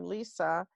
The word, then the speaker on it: Lisè: distinguishes me is that my first name, Lisè, is spelled Lise, instead of the traditional Lisa with an A.